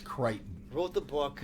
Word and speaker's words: Crichton: and it's based on Creighton is pronounced Creighton wrote the book it's